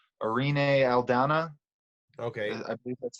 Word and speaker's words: Irene Aldana: Irene Aldana.